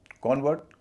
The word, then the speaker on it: convert: CONVERT, कॉन्वर्ट, कन्वर्ट। Verb हुआ कन्वर्ट, noun हुआ कॉन्वर्ट।